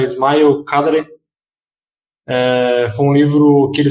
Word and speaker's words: Ismail Kadare: vezes para algumas pessoas, já me corrigiram várias vezes, eu não sei o nome correto, a pronúncia correta, mas da última vez que me corrigiram é Ismail Kadare.